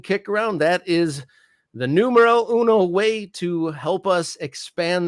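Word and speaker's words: número uno: Oh man, you just have to think about the vowels. Numero uno, not numero.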